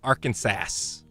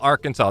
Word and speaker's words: Arkansas: Arkansas. Oh, you can't say that though. You gotta call Arkansas. They actually have a law in Arkansas. When you're in Arkansas, you have to pronounce it correct.